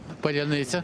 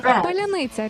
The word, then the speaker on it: паляниця: Паляниця.